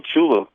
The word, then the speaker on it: Tchula: Down here in Tchula, and the T is silent. Thank you. In Tchula, Mississippi, the most of the time we're patrolling either alone or there's one or two officers on duty.